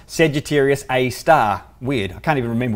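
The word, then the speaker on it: Sagittarius A*: that one and if you hear the name Sagittarius a star it's actually spelt said you serious capital A asterisk but it's pronounced said you serious a star weird I can't even remember why that is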